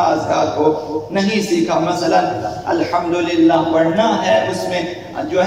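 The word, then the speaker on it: الحمد لله: اگر اس کی جگہ ہا کا تلفظ درست نہ کرے، مثلا الحمدللہ پڑھے ہا کے ساتھ، تو پھر معنی یہ ہوگا کہ خدا کے لیے ہلاکت ہے، نابودی ہے، بربادی ہے.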